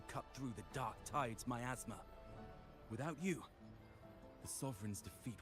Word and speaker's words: miasma: I've I've heard it pronounced as miasma before. Uh more frequently as miasma um and not mythma.